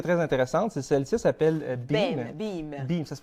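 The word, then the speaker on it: Beme: Une que j'ai trouvée très, très intéressante, c'est celle-ci, s'appelle Beam. Beam. Ça se prononce Beam, c'est B-E-M-E.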